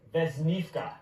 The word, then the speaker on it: Vesnivka: And again, the pronouncer is it Vesnivka? Pooja, you said it beautifully. Vesnivka.